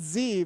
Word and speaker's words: Z: Bleakley above us shows Sesame Street had Z but we still say it correctly oh boy yeah but I will admit there's two correct answers Americans Nathan you're right you say Z everybody else it got